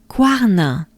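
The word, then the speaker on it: Cuarnens: Again, don't pay attention to the spelling. I know there's an S at the end. It's not there. Just pretend it doesn't exist. Guarna. So, I would say quoi, quoi, quoi, quoi, quar, quar, na, na, na.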